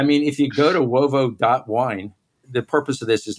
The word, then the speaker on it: Uovo: but I mean, if you go to wovo.wine, the purpose of this is not, frankly, to plug us, but I mean, look, and people, when I say wovo.wine, they're gonna start with a W.